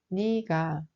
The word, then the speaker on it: 네가: But it's pronounced more like 니가.